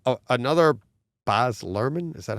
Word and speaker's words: Baz Luhrmann: So it's another Baz Luhrmann, is that how you say his name? Baz Luhrmann? Yeah. Baz Luhrmann.